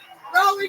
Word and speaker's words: Raleigh: Oh my God, this is our first time ever in Raleigh, North Carolina. Yeah. You guys sound very exciting. Are we saying that right? Raleigh. Yeah, we're saying it right finally.